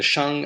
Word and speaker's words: Xia: the subject for today the Sha Dynasty and that's spelled x i a in the pinion system of Chinese romanization I explained